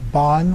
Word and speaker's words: Bön: One is called Bön, or Bon, we usually pronounce it in English.